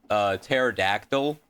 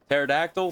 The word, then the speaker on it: pterodactyl: P is silent because in English, when a word begins with a P that is followed by an S or a T, it's silent.